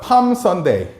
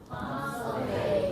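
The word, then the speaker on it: Palm Day: 팜데이 팜데이 이거 L 발음하면 안 돼요. 발음이 없습니다.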